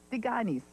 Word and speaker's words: Tikanis: Pretend it's spelled D-I-G-A-N-I-S and say Tikanis. Tikanis. Much softer consonants, that's the thing.